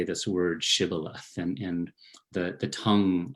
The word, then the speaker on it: shibboleth: enemy they were fighting couldn't pronounce the shah would pronounce it sybillath um and anyone who who made that mistake in translation and pronunciation would then be killed um this poem is